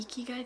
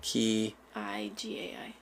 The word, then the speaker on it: Ikigai: Remember the Ikigai thing we did?